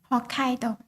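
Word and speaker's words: Hokkaido: o how do you how do you say it h kaido h kaido yes it's a very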